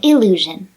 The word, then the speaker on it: illusion: First is allusion and illusion. These are two nouns with nearly the same pronunciation. Only the vowel at the beginning is different, and in certain dialects they might sound the same.